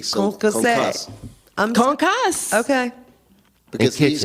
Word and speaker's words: concasse: Well, you would not pronounce the E. So Concasse.